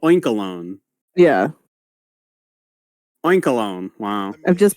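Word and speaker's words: Oinkologne: Well, because it's spelled like cologne, so Oinkalone.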